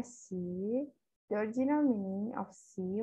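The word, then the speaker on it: 习: Nah, ini gambarnya si, bacanya si.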